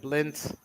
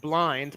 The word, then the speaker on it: Blind: from Ake, met by Van Dijk and then Blint. Yeah, PS Morgan. His name is spelt blind, but he's certainly been anything but tonight.